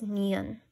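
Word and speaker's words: 니은: First, we have an N sound, known as niun.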